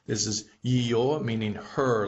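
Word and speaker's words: её: Here are the two most common words that have the yo in it. This is ее, meaning her, like this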